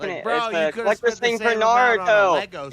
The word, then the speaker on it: Naruto: Naluto, you're white. What did What did I do? Naruto.